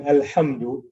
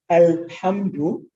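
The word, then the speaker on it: الحمد: So, for example, alhamdu, right? You hear the lam of al clearly. There's no assimilation.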